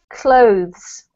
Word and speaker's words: clothes: though dawn that's better this one is one syllable and I know it's quite hard to fit in all the sounds but it should be clothes glued much better well done